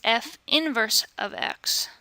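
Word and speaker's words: f⁻¹(x): pronounce this notation is f inverse of X notice that this little negative one up here is not an exponent it is not to be read f to the negative one exponent and that is not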